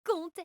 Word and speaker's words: Comte: Comte ne fait pas partie de la famille Comte. Il n'a pas le même radical que les autres. J'ai l'impression de me faire une entorse du cortex. Comte et conte, ça se dit pareil.